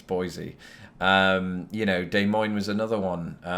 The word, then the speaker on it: Boise: Same with Des Moines, and Boise, Idaho. I'm joking. It's Boise.